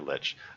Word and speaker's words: lich: Is it like or lich? I'd always pronounced it like until I I uh heard it pronounced lich in umh uh uh um Warcraft 3 or sting bites big dragon just misses.